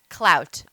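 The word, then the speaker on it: Klout: anybody heard of clout it is spelled k l o u t clout go to it right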